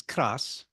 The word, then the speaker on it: kras: Karst, Ved correctly pronounced in Croatian, krš. In Slovene, the word is kras, and I'll get to that.